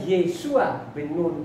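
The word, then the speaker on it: ישוע בן נון: bernama Yesua bin Nun karena tuh huruf aslinya di sana Yod Sin Ayin. Jadi bacanya Yesua bin Nun.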